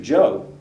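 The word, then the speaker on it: Zhou: Joe, and his name is spelled Z-H-O-U, and he's going to oversee construction.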